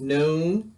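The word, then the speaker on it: נ: next is the letter sonic so this is noon it makes the nurse sound like a nap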